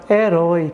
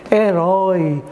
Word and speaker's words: herói: no caso da palavra herói que que você percebe herói Olha aí o oi aí você pronuncia com timbre aberto Então nesse caso aí